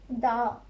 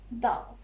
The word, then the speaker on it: dağ: And last one, mountain, dağ, dağ. Little bit of stretch, dağ.